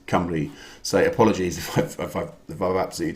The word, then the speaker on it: Cymru: Susie Perry, 23 out of 30, Wales in Welsh, pronounced C for cat, Cymru.